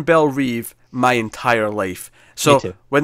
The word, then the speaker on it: Belle Reve: I say Belle Reve, and everywhere I've ever seen says Belle Reve, yeah. Except this show says Belle Rev, and I hate it.